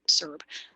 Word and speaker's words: CERB: Some people say CERB, some people say CERB. I call it CERB, soft C.